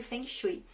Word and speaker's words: Feng Shui: passado para cá eu venho Estudando muito sobre Feng Shui e sem Shui o falso Ei como algumas